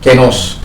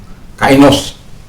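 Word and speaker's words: καινός: Jadi dalam bahasa aslinya ada kenos, ya, ada kainos orang bilang, tapi dalam pronunciation yang benar itu adalah kenos. Ya, alfa ketemu epsilon itu baca menjadi e.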